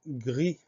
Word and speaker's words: gris: Alors, comme pour grain tout à l'heure, on entend gr au début du mot qui s'écrit G-R. Ensuite, I, on va mettre la lettre I. Et à la fin, on a une lettre muette qui est le S.